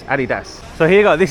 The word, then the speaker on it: Adidas: It's not Adidas, okay? It's Adidas.